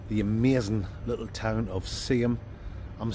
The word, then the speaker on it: Seaham: amazing little town of Seaham. I'm saying Seaham, you guys probably don't even understand what I'm saying. It's the real way to say it is Seaham, S-E-A-H-A-M, Seaham. But us locals say Seaham.